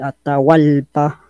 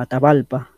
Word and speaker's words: Atahualpa: es guay es lo pronuncian baja así que atahualpa sería la pronunciación como atahualpa y hay otro detalle que los españoles europeos